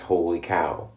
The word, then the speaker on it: Wholly Kaw: look it up and it is pronounced holy cow so this one has